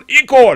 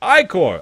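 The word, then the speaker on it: ichor: trle Charice I can fill it with magical eor that's pronounced ior oh ior oh thank you choose your iore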